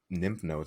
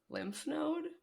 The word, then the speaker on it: lymph node: i have like freaking nymph nodes on my neck or something nymph nodes just call it a nymph node how do you pronounce it lymph node lymph nose what did i